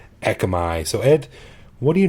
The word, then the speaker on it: Ekkamai: that with one Cas some of you spell it with two I go back and forth but uh it's pronounced the same echi so Ed what do